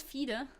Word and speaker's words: FIDE: Pronunciation of FIDE is German. Oh, it's FIDE.